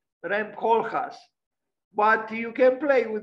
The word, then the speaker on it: Koolhaas: And I think she said something like Koolhaas, not Koolhaas, like in English, C-O-O-L, because this is not in English, it's in Dutch, like Koolhaas, Rem Koolhaas.